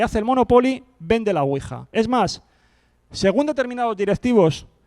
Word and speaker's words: Ouija: aquí en España llega castellanizan el nombre como tal como se pronuncia ouija con la u con diéresis y aquí la tuvimos